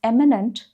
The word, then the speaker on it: eminent: Next is eminent versus imminent. They're pronounced slightly differently. One is eminent, the other is imminent.